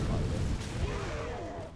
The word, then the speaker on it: climber: Another vine climber. Why did you pronounce the B in climb?